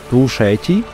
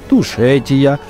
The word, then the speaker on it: Тушети: Грузины говорят «Сванети», «Тушети» и «Кахети». Они как за пределами страны называют туристы «Сванетия», «Тушетия» и «Кахетия», добавляя в конце «я».